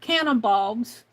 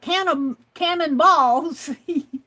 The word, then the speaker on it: canna bulbs: I'm going to plant canna bulbs And it's not cannonballs. It's cannabulbs. Cannabulbs, B-U-L-B-S.